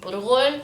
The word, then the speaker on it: burghul: We say it in Lebanese, burghul.